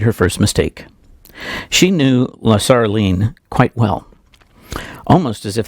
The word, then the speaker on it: Lasaraleen: is the name I need to learn to pronounce better, Lasaraleen, there we go, Lasaraleen, not a name I'm familiar with.